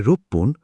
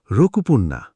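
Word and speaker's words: ろっぷん: আর সারে মানে হান এখানে তিনটে উচ্চারণ একটু কঠিন এক মিনিট মানে ইপ্পুন ইচিপুন ছয় মিনিট মানে রোপপুন রকুপুন্না আট মিনিট মানে হাপপুন হাচিপুন্না এগুলো জাপানি উচ্চারণের স্বাভাবিক পরিবর্তন একটু প্র্যাকটিস করলেই ঠিক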